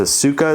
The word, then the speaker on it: Asuka: I think it's Asuka is how you say it.